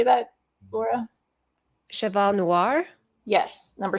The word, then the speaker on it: Cheval Noir: Cheval Noir.